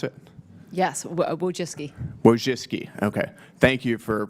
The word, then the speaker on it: Wojcicki: Miss Wojcinski, is that how you pronounce it? Yes, Wojcicki.